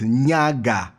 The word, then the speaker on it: Nyaga: that yeah bunny face so how do i pronounce your surname yes this african names where they have issues so it's nyaga yeah i know you don't have one yeah